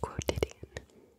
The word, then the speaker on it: quotidian: I had quotidian. I think that's a word. Quo-ti-di-an I was wrong That's four Quo-ti-di-an I was out, out again.